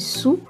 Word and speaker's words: soa: Soa qui se lit sou, pas soa, donc ça se lit sou, veut dire bien, belle ou bonne dans le sens de bonne personne.